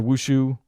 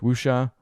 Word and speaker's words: wushu: director and they're amazing they're lucia or wushu depending on how you want to say it wusha i guess there's a few wushu is what i feel like i've heard yeah you can say it wrong a couple different ways apparently and there's three for